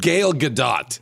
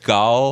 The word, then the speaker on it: Gal Gadot: Because you said Gail Gadot. Gal. I'm 100% sure. You said Gail Gadot. Let's say it with me again. It's Gal Yes, but Gadot.